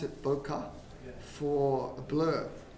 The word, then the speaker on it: bokeh: But there's I know the photography people pronounce it bokeh for a blur. In Japanese it's pronounced bokeh, and it's boketeru.